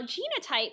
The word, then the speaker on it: genotype: with the Le now genotype sounds like the word Gene so what is the